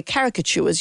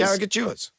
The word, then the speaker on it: caricatures: At the end of every show or at the end of every Magnificent and we give away caricaturures, you say caricaturures. Caricatures. You've always said caricaturures.